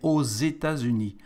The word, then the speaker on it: aux États-Unis: For the States, because it's a plural, we add an X, and the X for the liaison here between the two words is like a Z, so we say aux États-Unis.